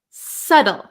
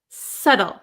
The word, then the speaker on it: subtle: you've got it now we also have a silent B so we pronounce this word s SLE subtle subtle okay so this one